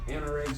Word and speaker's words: anorak: This is a Anorak jacket. That's how you pronounce it.